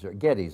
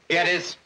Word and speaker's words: Gettys: is named Big Boss James Gettys, or Gettys they pronounce it. Gettys.